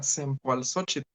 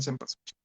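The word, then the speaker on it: Cempoalxóchitl: A la llegada de los españoles, lógicamente muchas palabras de origen náhuatl, pues no lo pronunciaban como era y pues no les importó y le cambiaron Cempasúchil.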